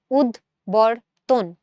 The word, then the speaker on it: উদ্বর্তন: এখানে এটার উচ্চারণটাতে কিন্তু আমরা বয়ের উচ্চারণটা পাচ্ছি, আমরা বলি না উদ্বর্তন, উদ্দায়ী পদার্থ, উদ্দায়ীতে কিন্তু আবার ব নাই, কিন্তু এখানে কিন্তু বয়ের উচ্চারণ আছে, উদ্বর্তন।